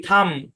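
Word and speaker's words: thumb: ইউ এম বি নাম টি এইচ ইউ এম বি থাম সি এল আই এম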